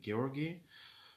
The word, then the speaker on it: Georgi: very tough and very tough both for georgie georgi and for uh other people so georgie actually